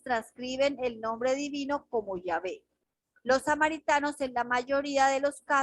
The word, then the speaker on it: Yahvé: pronunciación corrupta del lenguaje, aunque la pronunciación original samaritana era Yahvé, que significa el hermoso. Por lo tanto, la pronunciación del nombre divino como Yahweh no es correcto, especialmente si se basa